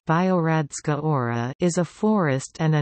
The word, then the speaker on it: Biogradska Gora: Biogradska Gora, pronounced Biogradska Ora, is a forest and a national park in Montenegro within Kolasin municipality.